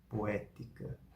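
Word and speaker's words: poetica: Caso não haja ditongo, ou seja, as vogais estão em sílabas diferentes, que seria um hiato, cada uma das vogais vai ser pronunciada. Por exemplo, a palavra poética, poética, poética. Esse acento é apenas para indicar qual sílaba está sendo pronunciada aqui, qual vogal está sendo pronunciada, que é o E separado do O.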